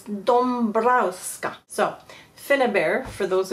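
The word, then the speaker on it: Dąbrowska: they pronounce each ends and D browa this is how it's written but there's a little accent uh on the a so it's Doma so fa bear for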